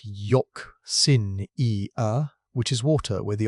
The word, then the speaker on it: euxinia: Anoxia, which is water with the oxygen gone, and euxinia, pronounced yock-sin-e-uh, which is water where the oxygen is gone and hydrogen sulfide has taken its place.